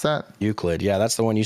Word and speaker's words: Euclid: Is that how you pronounce that? Euclid.